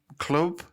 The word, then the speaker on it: Clwb: Tropa that's exactly it so apparently you say l and W so for those who don't know it's spelled c l WB but apparently the L&W you say is Club so word so yeah